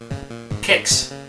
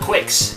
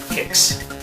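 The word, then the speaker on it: Qix: how you pronounce it kicks it's not quakes there's no u there and i only know that because they used to have these flyers and at the very bottom it says pronounced kicks kicks this game sucks but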